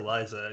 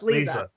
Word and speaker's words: Leza: almost said Liza. Yeah, that is Liza. Leza. No, it's Leza.